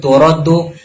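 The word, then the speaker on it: تُرَدُّ: Jadi yang benar bacanya itu turaddu syahadatuhu, bukan taruddu syahadatuhu. Next.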